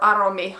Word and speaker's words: Aromi: is that the name aromi comes from the finnish word for fragrance so you probably can